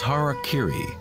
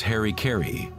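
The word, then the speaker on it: hara-kiri: one form of ritual suicide or seppuku was hara kiri was often mispronounced as harry kerry it means to impale one's hara thereby cutting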